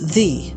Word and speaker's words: the: where it gets interesting the pronunciation of the actually changes based on whether the word that follows it begins with a vowel or a consonant yes you heard it right this tiny three-letter word has two pronunciations let's start with the followed by a consonant in this case the is usually pronounced asthe rhyming with fun for instance in the